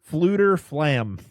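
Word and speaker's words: Fflewddur Fflam: Fluter Flam. I forgot you just the first F is silent.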